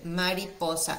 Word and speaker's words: mariposa: in Spanish is Mariposa so listen to my pronunciation Mariposa if we divide that into words it's like